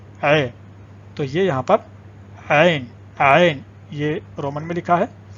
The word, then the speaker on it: عین: عین پڑھیں گے، جو آواز ہے، تلفظ ہے، جو یہاں سے نکلتا ہے، تو عین آپ پڑھیں. این نہیں ہوتا، این نہیں ہوتا. این تو الف یا حمزہ کی آواز ہوتی ہے.